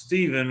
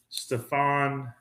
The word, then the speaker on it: Stephen: See, my name is pronounced Stephen with a P-H-E-N, and people always mispronounce it Stefan or Stefan, which is fine, whatever.